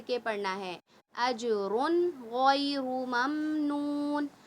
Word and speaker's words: ممنون: اجرن غیر ممنون. اچھا میم میں قلقلہ نہ ہو، خیال رکھیے گا. مم نہیں، ممنون، ممنون.